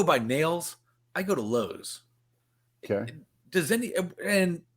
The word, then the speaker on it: Lowe's: lowe's are we sure it's not lows well it's lowe's because mr and mrs lowe pronounced their name low we have a language